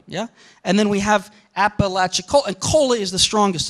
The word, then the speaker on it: Apalachicola: And people pronounce this as Apalachicola, yeah? But there is a sense, yeah, where we have sort of three units, Apalachicola, Apalachicola. And these are called feet.